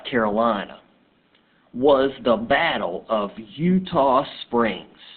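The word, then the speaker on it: Eutaw Springs: was the Battle of Utah Springs I know that doesn't look like Utah as in the state but that was a Native American word and that is how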